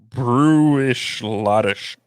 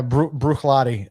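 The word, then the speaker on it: Bruichladdich: the distillery on there brewishlautish brooklynic brooklyn yeah actually yeah i think it's pronounced lottie at the end you don't pronounce the sh at the end it's brooklyn i was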